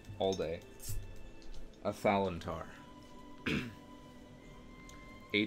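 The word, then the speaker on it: Athalantar: A Thalantar.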